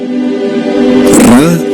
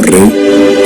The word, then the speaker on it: Ra: Ra, también pronunciado como Re, es el Dios Sol.